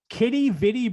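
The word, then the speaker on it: Quidi Vidi: john's called kitty vidi brewery outside what wait kitty vitti brewery oh yeah wait till you see how it's spelled q-u-i-d-i new word v-i-d-i kitty vitti don't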